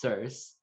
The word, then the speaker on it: Circe: So, the verdict is that it is pronounced Circe, and she I don't know.